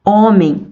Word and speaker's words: homem: as palavras hoje hora homem e hábito nós não pronunciamos a letra h então são todos os